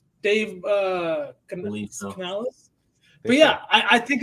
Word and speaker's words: Canales: offensively driven head coach with um shereé with Canales that's that's how he pronounced his name Dave uh Canales but yeah I I think this is could